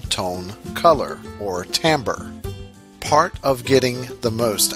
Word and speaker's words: timbre: the same thing and that Tambor is pronounced Tambor it is interesting that